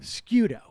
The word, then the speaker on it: Sciutto: Here is on CNN, Jim, how do you pronounce his name? Sciutto. Sciutto.